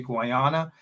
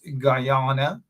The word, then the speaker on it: Guyana: they've been after me don't say Guana it's Guyana whatever it is hey have